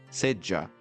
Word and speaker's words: seja: Veja aqui que a palavra seja no português medievar pronunciada seja, aquele som de ja, como eu disse no J.